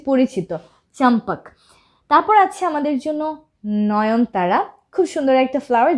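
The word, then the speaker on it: Zinnia: এখানে আমাদের জন্য জিনিয়া এই জিনিয়া কেও ইংরেজিতে জিনিয়ায় ডাকা হয় জ্যাট দিয়ে শুরু হয় এজন্য প্রোনাউন্সিয়েশনটা আমরা জিনিয়া এভাবে করে থাকি বাংলায় জিনিয়া তো লিখে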